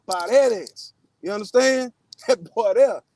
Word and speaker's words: Paredes: You got to say his name correct. You can't say it with the English inflection. Paredes. Now, Paredes.